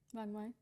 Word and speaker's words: Vangmai: Today I have Vangmai. Vangmai. Perfect. I was nervous about pronouncing that.